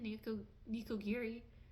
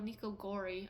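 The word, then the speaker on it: nikogori: I've never heard of someone making chicken niko nikiri. Oh, niko gori. I've been saying it wrong.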